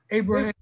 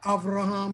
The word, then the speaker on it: Avraham: dates from adam until abraham or avraham as we pronounce the ideology of the